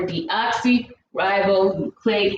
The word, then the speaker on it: deoxyribonucleic: school dna stands for deoxyribonucleic acid so how you pronounce that word just break them apart d then oxy ribose it's hard when you